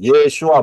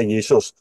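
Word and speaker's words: ישוע: benar yaitu yesua hamasiah Yod Shin wau Ayin yesua bacanya yesua yodsin wau Ayin itu bacanya yesua enggak pernah ada yodsin wau Ayin dibaca Yesus enggak akan pernah ada ya jadi pintu satu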